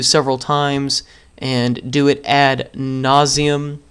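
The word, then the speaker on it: ad nauseam: times and do it add nauseum add naum is the Latin pronunciation um and uh have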